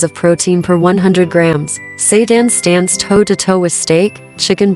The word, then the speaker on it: seitan: We're talking about seitan, pronounced seitan, a plant-based protein bomb